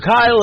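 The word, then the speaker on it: Kile: Kyle is spelled K I L E.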